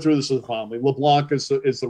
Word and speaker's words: LeBlanc: you by saying you well you technically pronounce it the right way i pronounce it the